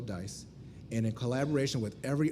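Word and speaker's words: DCISE: collaborative information sharing environment pronounced dice not decice I really hate when people say desise in June of 2008 as a contractor I became a civilian in April of 2019.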